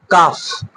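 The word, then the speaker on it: calf: এফ এর আগে যখন থাকে, যেরকম কাফ, হাফ, এরকম করে কিন্তু কি এলটা সাইলেন্ট থেকে যায়।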